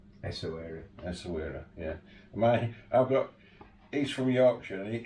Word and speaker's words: Essaouira: like, and you're going to do the correct pronunciation, Essaouira. Essaouira, yeah.